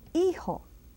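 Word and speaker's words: hijo: that g and E again is H and eho eho means son and then we go to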